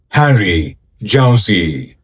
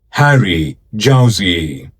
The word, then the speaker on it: Harry Jowsey: It's pronounced Harry Jowsey. Harry Jowsey.